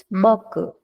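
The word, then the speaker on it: 僕: dice ahí Cómo Ajá suena un poquito la u sí no Goku boku Sí suena pero sutilmente otra forma de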